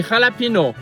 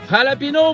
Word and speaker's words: jalapeño: Premièrement, c'est la capitale de l'État de Ber Cruise et on peut l'écrire soit avec un X ou avec un J parce que les deux ici se prononcent de la même façon au Mexique.